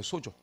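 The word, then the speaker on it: σῴζω: 그래서 구원하다, 이게 소조예요. 소조. 응? 소조. 이 정도는 읽을 수 있잖아요. 그죠? 요게 오 발음 나요.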